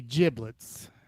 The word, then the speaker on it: giblets: here we go basically giblets pronounced with a soft g like gin rhymes with riblets are what we collectively